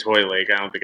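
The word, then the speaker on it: Hoylake: Yeah, I think it's Holy Lake. I don't think it's Holy, but whatever. They should learn how to pronounce things in Britain. I believe like there's no L prior to the Y.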